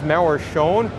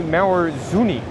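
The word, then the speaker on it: Mauer Söhne: And now I've always thought it was Mauer Schoen, but it's actually Mauer Zuni. Mauer Zuni. Zuni was how they pronounced that. Mauer Zuni.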